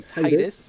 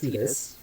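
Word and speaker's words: Tidus: I know it looks like it says it should be Titus but it is actually pronounced Tetus.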